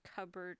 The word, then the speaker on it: cupboard: Why is the P in cupboard silent?